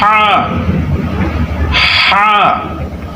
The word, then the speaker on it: ح: আর এটা হচ্ছে, এই হরফটা হচ্ছে হা হা, অর্থাৎ কণ্ঠনালীর মধ্যখান থেকে, এটাকে আরবিতে বলা হয় হালক, হলকের মধ্যখান থেকে হা।